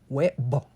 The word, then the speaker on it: huevo: So avoid turning each vowel into 2. It's not huevo, but huevo.